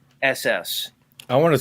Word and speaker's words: Hass: No, it's spelled Hass.